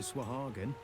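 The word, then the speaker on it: sahuagin: another line of work i' never heard any pronounce like that I've always I've always pronounced it as sahalin SW they like they're putting the W in there for no apparent reason the game deserves a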